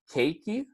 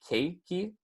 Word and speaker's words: keiki: throughout Oahu and Hawaii as well keiki is pronounced keiki so if you guys want to say that once were with me it's pronounced keiki and then put it together you get cakey